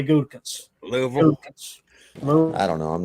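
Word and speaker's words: Gutekunst: But to me, it's Gundekunst. Yeah, Gundekunst. Yeah. You know, some people say Gutakunst, but where I'm from, you always potato. You always subtract a syllable where I'm from. You just blend it in together.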